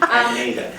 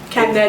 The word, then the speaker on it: Kaneda: Kaneda. No, that's not how it's spelled. Ne. Kaneda. If you listen to it, that's how they say it.